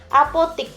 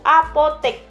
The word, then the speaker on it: apotek: Apotik yang benar itu apotek. Cuman, nah yang benar itu adalah cuma.